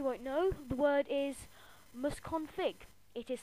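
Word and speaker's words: msconfig: which you probably won't know the word is mus config it is spelled Ms c o n fig no capitals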